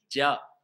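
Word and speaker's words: ج: Le Jim, attention, une petite faïda, les Arabes ne prononçaient pas Jim. On ne dit pas Ja, Jou, Ji. Mais ils prononçaient Dja, Djou, Ji. C'est comme ça qu'il se prononce dans la langue arabe le Jim.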